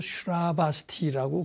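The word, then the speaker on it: Śrāvastī: 뭐 그것을 인도말로 슈라바스티라고 그렇게 발음을 하더라고요.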